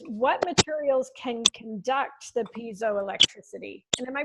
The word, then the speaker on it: piezoelectricity: But I'm going to start with Marco's question, which is, what materials can conduct the piezoelectricity? And am I pronouncing that right? Piezoelectricity? Piezo, yeah.